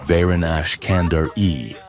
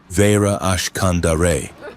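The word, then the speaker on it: Varen Ashkandare: He butchered the pronunciation deliberately, mangling the glottal stops of her native tongue. Sarah's expression didn't change, but the air around her seemed to drop 10 degrees. "It is pronounced Vera Ashkandare," she corrected, her enunciation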